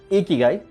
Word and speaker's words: Ikigai: So as an answer to these questions, I have a wonderful concept called Ikigai. So what's Ikigai? It's pronounced as Ikigai, and this is a concept from Japanese.